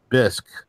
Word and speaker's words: Bisq: the build out of it, and organizations like BISC Network, and I recommend people go to check out BISC. That's spelled BISQ.